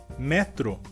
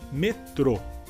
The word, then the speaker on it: metrô: e em português seria metrô. E a diferença seria que a sílaba mais forte nessa palavra em espanhol seria a sílaba inicial me, e em português seria a última sílaba tro.